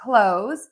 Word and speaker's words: clothes: For clothes, you can skip that th and just say a z.